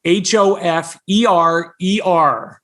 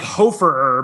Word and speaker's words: Hoferer: last name it's spelled h-o-f-e-r-e-r there's like a silent er these crazy germans added a silent er onto a name so it looks like hoe for ur but it's pronounced hofer